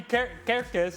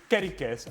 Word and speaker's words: Kerkez: And it cannot be Kerkez, it's Kerikez.